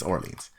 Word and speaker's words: Orléans: Oh, Orléans. Yeah, it's Orleans. No reason for you to pronounce it like that, but you went out and did it anyway.